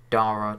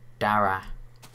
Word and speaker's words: Dara: I was talking to Dara today, or Dara, as his name is actually pronounced.